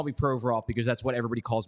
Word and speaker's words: Provorov: players, where like Provorov, the way you're supposed to say his name is Provorov, but when he's been here since he was 16.